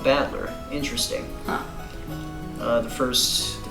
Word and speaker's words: Battler: right the first time i usually get called sentoku which is config did not mean to go